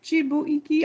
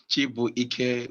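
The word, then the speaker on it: Chibuike: Chibuiki. I read it like Polish name. Chibu Ike, which translates as God is strength.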